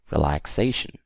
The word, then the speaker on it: relaxation: we have relaxation relaxation what do you guys think stress is actually on the a here okay relaxation right right after the X and we have to